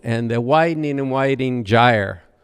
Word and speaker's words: gyre: the widening and widening gyre which is actually the preferred pronunciation I've heard the poem both ways but the widening and